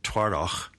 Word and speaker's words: Twardoch: And then Twardoch is T-W-A-R-D-O-C-H.